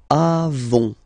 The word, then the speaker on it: avons: Then nous avons, final S not pronounced, avons, okay, and then we